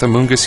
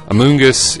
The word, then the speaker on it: Amoonguss: So Amoonguss is kind of a word that rhymes with blunt.